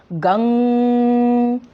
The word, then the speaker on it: गं: ओम गंग, जैसे हम बोलते गम, गंग, प्रोनाउंसिएशन गंग, समझ आई? गंग, ऐसा कहते हैं ना।